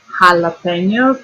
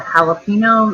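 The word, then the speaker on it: jalapeño: J in Spanish sounds like a H, makes a H sound, like an English H. But Spanish H is silent. The Spanish J says H. So have you ever heard of jalapenos or jalapenos or jalapenos? Well, that word is actually pronounced jalapeno. Got that N to it.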